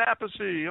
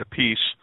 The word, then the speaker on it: Appice: the basis introduced Carmine he says Carmine aathy on the drums so he used to say aathy and then when he started playing with Rod Stewart Rod started pronouncing it a piece and Rod would get confused of the pronunciation so calline just changed it to a piece so he liked it better I don't know but my father says apathy and I stuck with